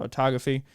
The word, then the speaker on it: autophagy: Pronunciation. Autophagy.